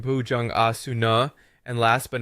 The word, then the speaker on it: Bhujangasana: Then we have Bhujangasana, the cobra pose, which sounds like Bhujang Asuna, and last but not least, Shavasana, corpse pose, which sounds Shavasuna.